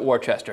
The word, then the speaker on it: Worcester: Worcester Telegram Gazette, but never pronounce it Worcester. It is Worcester.